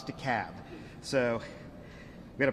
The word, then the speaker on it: DeKalb: DeKalb County, 802. And I want to take a note of personal privilege for a second for the Yankees in the room. It's DeKalb, not DeKalb, not DeKalb, it's DeKalb.